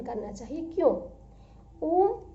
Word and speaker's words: ओम: ओम 3 अक्षरों से बना है, अ उ म, अरे आधमा, अ उ म, 3 अक्षरों से बना हुआ है ओम।